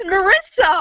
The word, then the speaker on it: Marysa: listening to you, and every time you said my name, you said it wrong. Damn it, I knew it! What is it? It's Marysa! It's just Marysa.